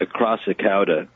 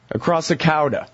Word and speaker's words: Acrassicauda: say the name of the band right it's pronounced across the cow - across the cow - exactly all right and that's the the